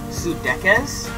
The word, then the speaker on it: Pseudechis: the screen right now it is called sudekaz um at least that's what how i'm pronouncing it um i did try to pronounce in pronunciation and that's how it said um which it actually